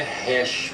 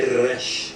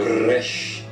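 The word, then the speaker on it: ריש: som de que Rush lembre-se que não é hash porque não é rei aqui é Rush com o r bem puxado Rush outra letra aqui embaixo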